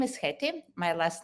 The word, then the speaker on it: Hetti: so my name is heti my last name is long and unpronounced so i'm always saying there is one hate in postgres and please call me haiti uh so i uh